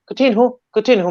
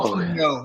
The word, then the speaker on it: Coutinho: All those names that end in IHO, like looks like ho. It just means Coutinho. little, and it's actually pronounced yo. So it's Oh. Coutinho, not Coutinho.